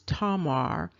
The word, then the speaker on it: Tamar: their names are sarin and I pronounced the name wrong in the first video her name is tomar um lovey Amanda seals and IET Carnell and